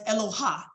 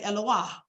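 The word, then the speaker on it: אלוה: I said oah. Actually, they pronounce it as Eloha. And you'll see me write that in my lecture. Some say Eloha, some say Eloah, right?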